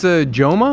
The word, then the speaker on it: Jama: Hey, Jama. Jama say pajama.